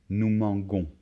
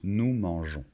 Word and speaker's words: mangeons: Si on ne rajoute pas ce E, ça ferait nous manguons. Donc il faut rajouter un E et de cette manière, on le prononce nous mangeons.